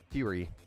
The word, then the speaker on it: Fury: So, my go-to has been because of the price the uh uh Kingston furry kit. Fury. I keep saying furry. It's the fury kit.